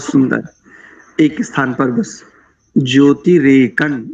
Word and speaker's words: ज्योतिरेकं: एक स्थान पर बस ज्योतिरेकन, यहाँ पर भी नकारी उच्चारण करेंगे अनुस्वार को, ज्योतिरेकन।